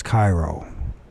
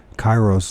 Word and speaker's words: Cheiro: And I guess you don't pronounce the H. So it's Cairo. So Chiro or Chiro.